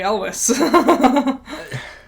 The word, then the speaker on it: Elwes: And bowling against Carrie Elwes. Els? Yeah, Els. Yeah. It's spelled weird.